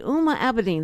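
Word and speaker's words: Huma Abedin: Alma Dean huh oma OMA so easy Cindy uma abidine that's right I'm amidine okay so they she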